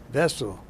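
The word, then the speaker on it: Wesel: of the Orion River was a town called vessel w e-s-e-l they they pronounce their debuts like with the B vessel anyway uh I tried to cross the Rhine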